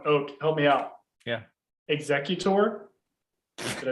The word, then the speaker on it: Exeggutor: that hold on oh help me out yeah exeggutor did i say it right i can't remember